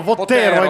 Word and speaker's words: Vottero: Pontoni, Giosa Vottero, mettiamo l'accento giusto, Dino Vottero, mi raccomando. Vottero, Vottero, Vottero, l'atleta della Chix Devo